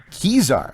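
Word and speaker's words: Kesar: It's Caesar with a K. Caesar, okay.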